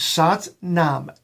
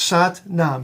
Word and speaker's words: Sat Nam: we use that is a beautiful mantra it's sat nam s-a-t hyphen n-a-m well there's no hyphen it's actually two different words but it it's it worked with me here okay it's sat nam so you would pronounce it during your your